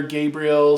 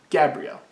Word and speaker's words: Gabrielle: His mother Gabriel, his mother Gabriel. I don't know if I'm saying it right. Gabrielle? Gabrielle. I keep saying Gabriel, but a woman would be Gabrielle, right?